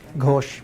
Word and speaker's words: Ghosh: And our lecturer is, I forgot to confirm the pronunciation of her last name. It's just Ghosh. Ghosh.